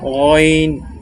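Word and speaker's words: غين: আইন আইন আইন এবং গইনটা স্বাভাবিকভাবে অইন অইন, যেমন বাংলা গ আমরা বলি, সেখানে অইন, এই যে এখানে দেয়াই আছে, বাংলা উচ্চারণটা লেখাই আছে অইন অইন।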